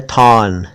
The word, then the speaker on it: thorn: ऐसे ही अंग्रेजी का एक शब्द है थॉर्न, THORN, थॉर्न। थॉर्न ना कहें, थॉर्न कहें, सही उच्चारण वही है, थॉर्न।